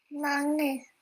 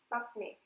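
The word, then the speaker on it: 막내: The first syllable was Yes, mang and not mak, right? We don't say makne. We pronounced it as mangne, right?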